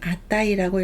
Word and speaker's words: 値: 훈독은 네 또는 아따이입니다. 네 하면 가격을 나타내고요. 네우찌는 가격 또는 값어치를 나타냅니다. 내당은 가격입니다. 똑같이 갑치자를 써서 훈독을 네라고 읽을 때도 있지만 아따이라고 읽을 때도 있습니다.